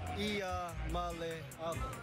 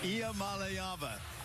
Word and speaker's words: Iamaleava: The correct way to pronounce my last name is Iamaleava. Iamaleava.